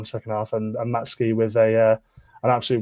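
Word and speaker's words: Matsuki: He didn't, he's right, is pronounced Matsky. The U is silent for for some reason just in, you know, Japanese language.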